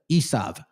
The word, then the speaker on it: Esau: also derived their name from Esau which is pronounced as Isav in modern Hebrew.